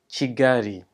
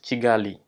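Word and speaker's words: Kigali: quick side note remember that the L is pronounced as a small error so we are speaking Aranda it is g-gary not jiggly each province is divided into districts Tyrell and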